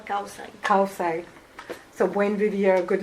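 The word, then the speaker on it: kawsay: Kawsai Kawsai so Buen Vivia good living uh amongst the Cayambis in northern Ecuador.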